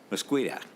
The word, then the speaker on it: Mosqueda: So, Ms. Mosqueda, is that how you say it? You are correct, Mr. Chair.